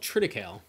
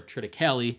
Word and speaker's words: triticale: wheat and rye that's called triticale or triticale or there's about 7 1700 other pronunciations of it we all know what